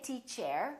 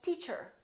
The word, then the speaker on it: teacher: Don't say teach air. Say teacher. She's a good teacher.